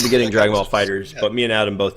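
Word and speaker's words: FighterZ: No, they said Fighters is how it's pronounced. That's how Namco themselves said it.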